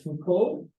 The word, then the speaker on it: Foucault: Remember that French people love to keep letters in the word and then not say it. So it's Foucault, and there's no T pronunciation.